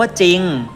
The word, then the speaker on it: จริง: ศาลา สอ เสือ นะ ครับ จะ อะ ควบ ด้วย ตัว รอ เรือ แต่ ไม่ อ่าน ออก เสียง เรือ เลย นะ เช่น จอ รอ คำ ว่า จริง ซอโซ่ รอ เรือ เช่น คำ ว่า ไซต์ ศ.